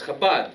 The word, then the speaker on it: Chabad: They say, no, it's not Shabbat, it's Chabad.